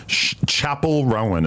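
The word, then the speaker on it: Chappell Roan: is really really good Chapel Rowan is how they say it you heard it she's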